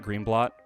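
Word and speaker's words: Greenblatt: uh green green blat green blot is how you pronounce her name she's she's I I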